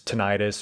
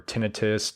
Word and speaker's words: tinnitus: the medical term is tinnitus or tinnitus depending on how you pronounce it and the noise